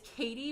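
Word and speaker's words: Katye: my name my nickname growing up is it's Katie but it's spelled k-a-t-y-e so you guys may see that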